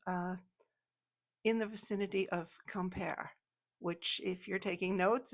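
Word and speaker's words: Quimper: to some place uh in the vicinity of Kemper, which if you're taking notes is spelled Q U I M P E R.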